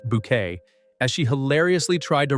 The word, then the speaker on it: Bucket: social climbing antics of Hyacinth Bucket pronounced bouquet as she hilariously tried